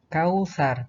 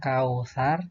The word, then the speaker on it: Kautsar: Kemudian ini kautsar, bukan kausar tapi kautsar.